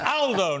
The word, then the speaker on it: Aldo: he picked me up but it's Aldo not older Aldo's a very British pronunciation in Italian uh good to see